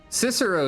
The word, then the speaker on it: Cicero: using the k sound Cicero is usually pronounced with the soft ones yeah but that's true